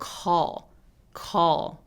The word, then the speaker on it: call: 콜 아니고 call 이렇게요.